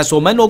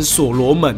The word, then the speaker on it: 所門羅: 那其实我一直都念成锁罗门哦，那你不觉得锁罗门好像比较顺口一点点吗？OK，那这